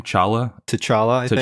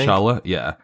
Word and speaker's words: T'Challa: daughter of T'Challa, or how do you say the Black Panther's name? T'Challa, I think. T'Challa, yeah. And Storm.